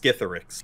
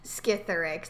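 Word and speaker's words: Skithiryx: Scytherix. Actually pronounced Scytherix. Scytherix. Oh, okay, that makes sense. Yeah. I said Scytherix. Scytherix or something? Yeah. I think it's pronounced Scytherix. Scytherix. That's probably right.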